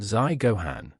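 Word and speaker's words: 在御判: small characters below Nichiren, which are pronounced Zai Gohan, meaning, seal of his presence.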